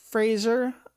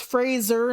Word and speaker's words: Fraser: And like Brendan Fraser's mummy is not Fraser. I'm going to say his last name wrong a lot. It's Fraser, not Fraser.